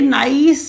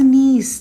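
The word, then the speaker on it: Nice: तो टू be held in, please ये नाइस नहीं है, इट इज नीस, that's how we pronounce it, the name of the place is नीस।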